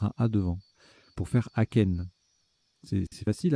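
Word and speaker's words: achaine: Aken, qui s'écrit A-C-H-A-I-N-E, donc c'est un A devant chêne, hein, c'est joli.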